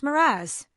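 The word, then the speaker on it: mirage: "M-I-R-A-G is pronounced Miraz," said Valancy shortly, picking up her tea and her beans.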